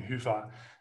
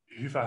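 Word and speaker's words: Hyvä: never disappointed if people stay stuck on pronouncing huffa but it has more meaning to me than that of course um i lived in finland for uh four years and um hifa has a very positive connotation for it's it's it's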